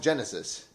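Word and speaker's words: Genisys: But they pronounce it Genesis.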